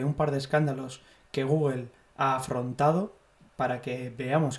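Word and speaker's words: googol: El término Google, que se escribe G-O-O-G-O-L, o Google, como suena, viene de un nombre que se le asigna a una cantidad de información, ¿vale?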